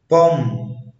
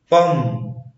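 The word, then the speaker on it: bomb: لا ينطق حرف بي اذا جاء قبله حرف ام، يعني حرف بي ما بينطقش لو جه قبليه حرف الام. مثل كوم كلايم بوم دام بلامر. اجين كوم كلايم بوم دام بلامر. يبقى ان هو عشان البي جه بعد الام ما تنطقش، بس في استثناءات للقاعدة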